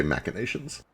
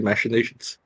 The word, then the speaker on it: machinations: Okay, apparently it's American versus British. Americans say machinations. Okay, makes sense. Oh yeah, now that you mentioned it, I've heard people with English accents say machinations. This time, Because, you know. and this is not always true, this time I think the Americans had it right.